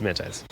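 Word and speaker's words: Zemaitis: I always say that name wrong. Zemantais. Yeah, it's Zemantais.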